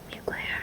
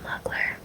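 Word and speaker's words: Mugler: I'm saving this one it's m mucle that's how you say it right mucle not not mular not not mcar mclear I know oh that's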